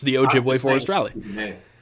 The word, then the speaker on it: Ojibwe: Ojibwe. Interesting. It's pronounced exactly how it's spelled.